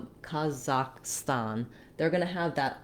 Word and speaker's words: Kazakhstan: talking about the country Kazakhstan. As far as I can tell, in Kazakh and in Russian, you have the same vowel all the way through.